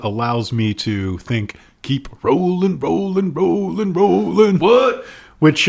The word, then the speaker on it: Rowling: I think I read somewhere that it said rolling.